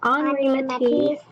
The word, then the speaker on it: Henri Matisse: I know it looks like Henri Matisse, but no, it's pronounced Henri Matisse because he's from France.